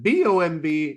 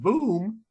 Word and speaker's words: bomb: it's pronounced tomb but b-o-m-b it's not pronounced boom it's bomb and I linked uh